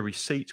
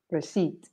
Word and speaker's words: receipt: When you pay, you get a receipt with all the prices. Just be careful of the pronunciation. The P is silent. Receipt. Yeah. And the stress is on the second syllable. Receipt. Receipt.